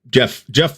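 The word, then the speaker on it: Geoff: Jeff spelled with the G, though.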